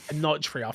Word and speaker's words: Enotria: I always pronounce this names wrong for this game. What is it? Enotria. Enotria.